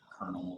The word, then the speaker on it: colonel: That's why like colonel is pronounced with an R. Oh, yeah, colonel is stupid too. Yeah, close. Yeah, there's no R in that word.